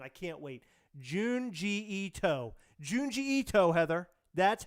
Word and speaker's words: Junji Ito: Junji Ito, Heather.